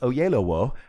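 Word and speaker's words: Oyelowo: name that's his name it's pronounced oh yellow i always remind myself that it sounds like oh yellow wolf without the f by the way [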